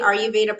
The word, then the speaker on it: Aruva: this really great company aruva protein powder literally just as it's spelled they've got a great